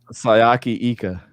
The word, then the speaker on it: Siaki Ika: Sayaki Ika.